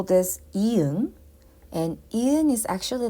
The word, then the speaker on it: 이응: And next one, we call this 이응. And 이응 is actually a little bit unique. When 이응 is a starting consonant, like here, starting consonant, it acts as a placeholder and does not produce any sound.